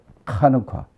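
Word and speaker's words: חנוכה: 그래서 그거를 뭐라고 그러냐면 하누카. 이 H 발음이 센 발음이 나오기 때문에 한우카, 우리가 그냥 한우카라고 그러지만 한우카, 이 한우카라는 단어인데 이게 지금의 여기 본문에도 겨울이라고 그랬잖아요.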